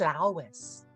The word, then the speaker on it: Lois: Listen, I saw an interview and she said it's pronounced Lois.